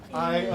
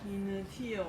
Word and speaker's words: Initio: Initio 沒錯 Initio, that's right 這個英文要怎麼樣 How do you say this in English? 因為它這個i在後面音節 Because the 'i' is in the last syllable i i Initio Initio